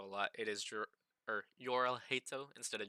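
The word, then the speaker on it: Jorrel: It is or Yorel hatto instead of Jerel. Um it's just easier to m pronounce it that way for me because you know in America it's you know usually you pronounce your your J's.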